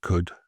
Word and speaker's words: could: So in certain sort of AL-OL combinations, the L goes silent, as in certain modal verbs like could, should, and would. And this happens because older English, they pronounce the L, but with sort of evolving over time, gradually faded in many accents. And today we just go straight to the vowel and the consonant around it.